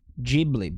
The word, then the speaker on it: Ghibli: Why do you pronounce it like that? Ghibli. Why are you pronouncing it like that? Ghibli, because that's how it's pronounced.